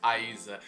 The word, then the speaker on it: Rayssa: So Rayssa Leal, and how you pronounce her name, Rayssa. I've been seeing so many people call her Rayssa. It's Rayssa.